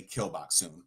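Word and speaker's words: Gil Bok-soon: But it seems to me that it was a purposeful pun that Gilboksoon is really Kilboksoon. Or like Kill Bill.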